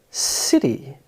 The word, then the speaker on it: city: The first syllable, s, is smaller. The second syllable is larger, sustain.